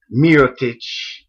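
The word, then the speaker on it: Mirotić: Gibson and the two rookies, Doug Mcdermick and Miroic as the is the correct pronunciation.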